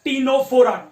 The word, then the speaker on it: Ctenophora: सो दो एग्जांपल्स है tissue grade organisation के, एक है सीलेंट्रेटा और दूसरा है टीनोफोरा। टीनोफोरा में सी जो है वो साइलेंट है, CTENOPHORA।